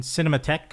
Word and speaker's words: Cinematheque: He is a part of American Cinematheque, right? Yes. Did I pronounce it right?